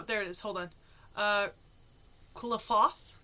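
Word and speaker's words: Qlipoth: Quilifoth? Quilifoth? Yeah, because that's a foth at the end. So Quilifoth? Okay. Something like that.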